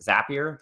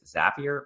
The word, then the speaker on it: Zapier: It is Zapier. The little pneumonic to remember is Zapier makes you happier.